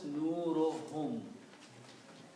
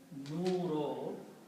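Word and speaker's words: نورهم: So when you combine these 2 together and read, one dhamma is not read, so it is pronounced as nurohum. So this word will become nurohum.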